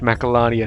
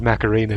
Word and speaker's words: Macalania: if you noticed there titus mispronounced macallania temple as macarena temple and went corrected he